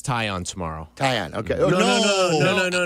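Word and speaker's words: Taillon: I think Jed mispronounced it. Talon. Did he say Talion or Talon? Uh, tail. I I don't know. He used the L though. It caught my It caught my attention. No, but if you look at all the pronunciation guides have it as tyion.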